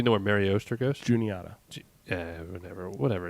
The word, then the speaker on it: Juniata: PA knowledge, knowing the right pronunciation for Juniata? Feel better. Yeah, and I got it right. I've like, always like called that. her Juanita.